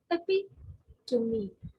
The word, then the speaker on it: epitome: So what is the breakup of this word is epitome, epitome. So this is the right pronunciation.